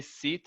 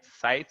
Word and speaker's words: site: You say site, I think you were talking about website. So site, Website, site, not sit, okay?